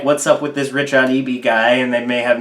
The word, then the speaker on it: RichaadEB: I go by RichaadEB online, which it is pronounced RichaadEB because apparently it's a lot of people don't really know how to pronounce it.